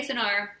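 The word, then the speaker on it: Cynar: it some people say cinar some people say china chinar is probably the italian way the correct way to say it but it looks like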